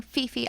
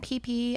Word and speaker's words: Phi Phi: made me uncomfortable so I'm saying Fifi Island but it is PP Island they pronounced pH P Mark and